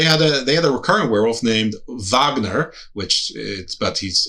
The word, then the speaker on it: Wagner: Um, so they had a they had a recurrent werewolf named Vagner, which but he's it's pronounced it's spelled Wagner, but it's pronounced Vagner.